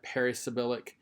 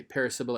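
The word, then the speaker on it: parisyllabic: are some that are perisyabilic which means that the nominative case well let me say paris sybil it means that they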